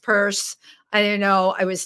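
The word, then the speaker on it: Peirce: Pierce page on Facebook, and Pierce is spelled P-E-I-R-C-E. It's pronounced purse.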